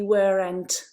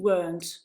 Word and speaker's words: weren't: we weren't they weren't please don't say where and but use uh this pronunciation weren't so question form and